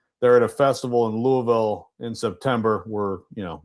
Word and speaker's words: Louisville: I'm just proud of you for pronouncing Louisville correctly. That's good stuff. Louisville.